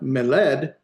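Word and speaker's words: מֶלֶךְ: So this would be meled, but because the accent's here on the first, it's meled, not meled, but meled.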